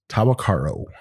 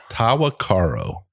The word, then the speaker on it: Tahwahkaro: It's a name that's not easy to pronounce. Tahwahkaro. Tahwahkaro.